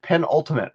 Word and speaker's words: penultimate: Penultimate, right? Yeah, just say pen and then ultimate.